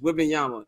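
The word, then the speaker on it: Wembanyama: like you don't know how to pronounce a name is whing Yama if my ass can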